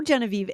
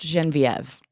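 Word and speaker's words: Genevieve: Lindsay it's actually pronounced genen viev oh genen Viv okay thank you for letting me know no problem this is a good example of a French name that does exist in English it's quite rare it's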